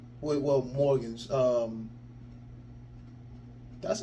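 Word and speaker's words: Morgans: do we Okay uh it says wait well Morgan um that's say his name right yes it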